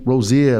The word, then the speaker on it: Rozier: Rozier, that's how you say it? That's correct. Right, that's Rozier, correct.